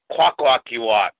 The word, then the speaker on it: Kwakwaka'wakw: I know I butchered it to death. Hi, thank you for inviting me on your show. It's Kwakwaka'wakw.